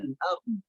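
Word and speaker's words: أرض: Banyak yang dibaca wal ardh. Nah, boknya tidak dibaca. Maka ini kesalahannya fatal karena meninggalkan satu huruf. Maka yang tepat dibacanya ardh. A-R-D, ya, A-R-D, ardh, ardh, nya dibaca dengan tebal.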